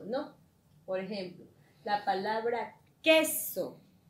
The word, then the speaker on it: queso: Por ejemplo, la palabra queso. Queso tiene la mayor fuerza de voz en cuál es. En la sílaba que, ¿verdad?